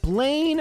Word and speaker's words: Blaine: All right, Blaine rhymes with pain, and I do think this is going to be annoying and difficult.